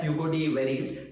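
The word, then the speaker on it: Hugo de Vries: सो लेट us analyse that कि mutation को सबसे पहले एक Dutch botanist ह्यूगो डी व्राइस ने समझाया था, और we pronounce it एज ह्यूगो डी वेरिस।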